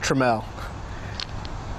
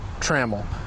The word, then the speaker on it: Trammell: My name is pronounced Trammell. It stinks because there's a Hall of Famer, the same last name as me, and he pronounces it Trammell.